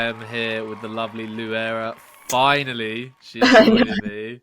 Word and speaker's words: Louaira: correct yes yes yes so most people get your name wrong I think you told me I normally get Laria lauraa I think I think people tend to over complicate it it's just said how it's spelled exactly I think I